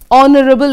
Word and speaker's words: honourable: because H is silent honourable again H is silent honorarium H is silent